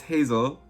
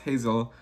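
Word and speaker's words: Geyssell: Hazel, it's Hazel, okay? So it's pronounced Hazel. Just wanted to get that out there. I know it's spelled a little weird, or different, but her name is Hazel.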